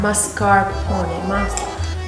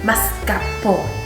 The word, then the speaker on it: Mascarpone: But there's an R. Mascarpone. Mascarpone.